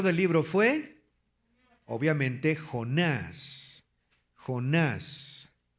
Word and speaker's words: Jonás: Jonás. Y Jonás lleva acento en la A, acuérdense, Jonás.